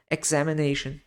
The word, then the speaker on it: examination: prescrição prescription e examination lembrem-se do X né no inglês como x-men examination show uma coisa também